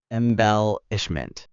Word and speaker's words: embellishment: You're saying embellishment with emphasis in the last syllable. Now try putting the emphasis in the second syllable. Embellishment.